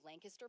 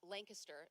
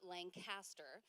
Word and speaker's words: Lancaster: and raised in the little rural Countryside of Lancaster Pennsylvania and it is pronounced Lancaster not Lancaster that's how we know like who's in who's